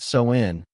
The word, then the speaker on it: Samhain: They called it sin, a word that hums with mystery, pronounced so in like a whisper from the earth.